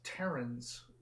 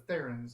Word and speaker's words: Theran: Because, again, like I learned that it's Terrans instead of Therans. Like it's not a TH. Oh, It was yeah. a hard TH. Right, yeah, like tree.